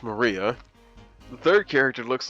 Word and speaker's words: Maria: she's a child battler her name is written like that with the with this of course is pronounced Maria the third character looks